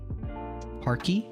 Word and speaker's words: parquet: Parky, which rhymes with khaki.